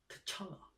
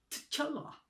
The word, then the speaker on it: T'Challa: I cannot pronounce that name, man. T'Challa. T'Challa. Sound like Arabic.